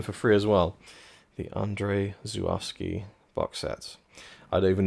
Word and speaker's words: Andrzej Żuławski: made more films, because the way I learned how to pronounce his name, which, again, I'm trying, it might not be correct, was from an audio commentary I found on YouTube for another film he directed, and he said, "Hi, I'm ANDRZEJ ŻUŁAWSKI." So pretty sure that's how you say it.